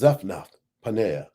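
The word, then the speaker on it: Zaphnath-Paaneah: It's pronounced Zapna. Paneera.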